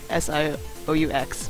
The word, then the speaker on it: Sioux: I think there's like a Native American tribe called the Sioux, and they spell their tribe name like S-I-O-U-X, but it's pronounced Sioux, so that's where I got mine from.